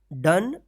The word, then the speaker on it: done: तो इसको आप ध्यान रखिएगा, ये 4 अक्षर जो है ना वर्ड्स, कम, डन, सम, वंस, इसमें भी ओ है और लास्ट में ई है, लेकिन इसका ओ उच्चारण नहीं हो रहा है, यहाँ पे अ